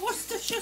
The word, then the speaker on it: Worcestershire: There you go, Worcestershire sauce. It's never pronounced how it looks.